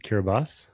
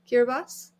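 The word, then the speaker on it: Kiribati: Then on to Kiraabati or as I've heard you pronounce it, Kiraabas. Yeah, my understanding is that in locally, you know, the TI at the end of the word is pronounced as an S. Kirabas.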